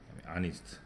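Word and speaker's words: honest: 대표적으로 아우어, 아니스트 등등입니다. 이때는 하우어가 아니고 아우어라 발음이 나고, 하니스트가 아니고 아니스트라 발음이 나니까 이때 같은 경우는 앞에다가 언을 이렇게 붙입니다.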